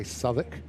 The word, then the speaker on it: Southwark: I tried to explain to my partner how to say savic. Yeah. Which is spelled southwalk.